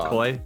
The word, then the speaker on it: Coy: Is it Koi?